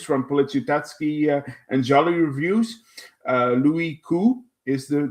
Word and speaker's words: Louis Koo: It stars Louis Koo. I got that from James from Policiutetsky and Jolly Reviews. Louis Koo is the name, is the right pronunciation.